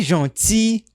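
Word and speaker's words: gentils: D'avoir été si gentil avec moi. Muito bem. Aqui a gente não pronuncia nem o L e nem o S.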